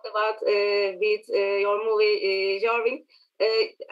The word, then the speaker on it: Jarvik: uh with your movie jarvin uh am i pronouncing it uh right by the way yeah yeah we say we say javik yarick okay yeah so that's